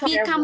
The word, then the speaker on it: become: Có đọc become bằng nhau không? Không ạ. Rồi, đọc mạnh vào sau ạ.